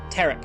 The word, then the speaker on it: tarot: Tarot card. I know how it's pronounced. Unlike me, I prefer it with the T.